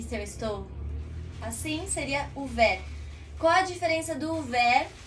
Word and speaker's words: ouvert: Quando nós temos uma palavra em francês com esse U, nós falamos U, né? Então seria ouvert. E esse T mudo no final. Ouvert. Esse T praticamente não aparece.